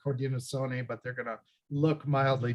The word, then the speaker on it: Haudenosaunee: Another thing that's a newer word that's been promoted by Indigenous people themselves is Haudenosaunee.